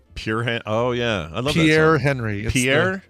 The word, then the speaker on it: Pierre: oh yeah Pierre Henry Pierre not pure Pierre it's this thing we're